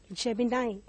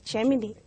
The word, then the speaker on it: Gemini: And one such sun sign is Gemini, mostly mispronounced as Gemini.